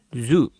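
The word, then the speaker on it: づ: Mereka dibaca Ji dan Zu seperti kelompok Za tadi. Ini mungkin karena lidah orang Jepang nggak biasa mengucapkan di sama du ya.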